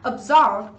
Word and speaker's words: absorb: Absorb. Absorb thì chúng ta có trọng âm giám tiết thứ 2.